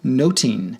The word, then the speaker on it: nothing: pun in its title the word nothing in the plays title is pronounced noting in Elizabethan English suggesting a pun on